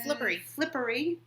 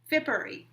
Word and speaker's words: Fippery: The pink is Yarn Carnival High Wire 3-ply in Flippery. Fippery. There's no L. I think. We say it wrong.